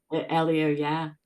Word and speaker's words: Elio: In Alex, is it Ito's book? Is that how you say it? Elio, Elio, Yeah, Alex.